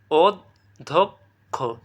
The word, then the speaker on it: অধ্যক্ষ: অধক্ষ বুঝতে পারতেছো?